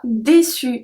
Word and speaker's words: déçu: Numéro 33, déçu, déçu. So it's the same pronunciation since we don't pronounce the E at the end, but if it's feminine, you have to add the déçu, déçu.